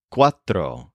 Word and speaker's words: cuatro: to some numbers the word for four is Quatro spelled c u a t r o and